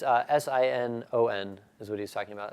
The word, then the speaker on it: Sinon: They call it sign-in. I call it Sinon, but I'm the odd duck out here, I suppose.